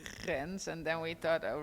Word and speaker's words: Rens: And you can pronounce it like Rens.